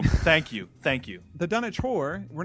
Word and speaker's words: Dunwich: one of my favorites the dunit yeah the dun witch that's going to be a really good one that's a good way to kick off 2011 Chad I it's it's pronounced dunich what where's the is the silent W no